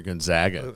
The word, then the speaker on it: Gonzaga: of people are picking they pronounced all three syllables in Gonzaga dude well Gonzaga has is it Gonzaga or Gonzaga according to Jeff it's